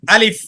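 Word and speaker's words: ألف: আলিফটা যখন আমরা উচ্চারণ করব তখন তাড়াতাড়ি করে উচ্চারণ করব, ঠিক আছে? আলিফ করে টান দেব না, বলতে হবে আলিফ।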